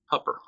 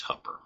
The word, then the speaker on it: Hooper: It is called Hupper. I know, it's spelled Hooper.